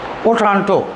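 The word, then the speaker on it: Otranto: बार और देख लूं ओ ट्रांटो ये कौन सा चैनल ये कौन सा है ओ ट्रंटो ओ ट्रांटो जैसे मैं इंग्लिश इंग्लिश में लिख रहा हूं वैसे ही उच्चारण है ओट्रांटो ओट्रांटो स्ट्रेट है ये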